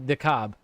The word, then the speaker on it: DeKalb: It is pronounced DeKalb.